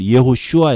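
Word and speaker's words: יהושע: 그 다음에 여호수아 이름은 히브리어로 예호슈아 이렇게 발음하는데 이것도 여호와께서 구원하신다 이런 뜻입니다.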